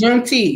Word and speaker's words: Juneteenth: How do you say it? It's Juneteenth, yes.